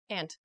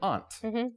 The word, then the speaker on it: aunt: mother excuse me your your mother or Father's sister is your ant I say Aunt how do you say